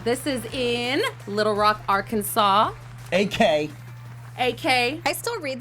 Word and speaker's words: Arkansas: it I'm like that's Arkansas I don't know why you're trying to tell me that's Arkansas yeah yeah you know I agree that that S is silent but anyways you guys